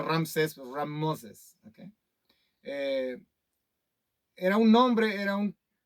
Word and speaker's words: Ramsés: un faraón Ramsés es Ramos es ramses se pronuncia Ramsés era un nombre era un nombre común en